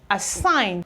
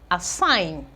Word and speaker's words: assign: we have a sign assign there's not any form of G sound in the pronunciation align assign okay we have consign